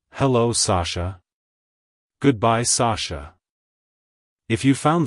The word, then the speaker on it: Sasha: emphasize the first syllable sah and then gently say the Sho sound at the end make sure not to emphasize the sh too much like hello Sasha goodbye Sasha if you